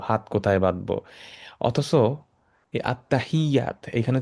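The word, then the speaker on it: التحيات: অথচ এই আত্তাহিয়াত, এখানে যে ইয়ার ইয়া দুইবার উচ্চারণ হবে।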